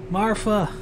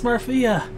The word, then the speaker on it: Marhea: It's Marfa. Damn it, I can't pronounce this big bad evil guy's name at all. Marhea. It's Marhea. She came here and summoned a bunch of fiery golems on us.